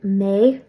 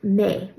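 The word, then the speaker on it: mé: me pronounce the word may for I or me like Ma now technically you'll pronounce it may but in everyday speech a lot of times you'll just hear it pronounced like ma especially when you're not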